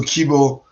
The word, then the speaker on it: Keebo: So KBO um is an American pronunciation of the word kibu which means hope in Japanese.